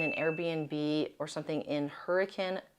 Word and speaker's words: Hurricane: The thing I suggest most is staying in an Airbnb or something in Hurricane. That is how you pronounce it in Utah, the city, not the storm.